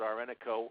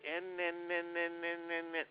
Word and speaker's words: Ennico: the phone they'll say Law Offices of are renico hopefully they'll know to pronounce my name correctly you know god forbid